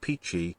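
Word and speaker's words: Pitty: listen to this Brazilian singer called pity pronounced peachy at least one of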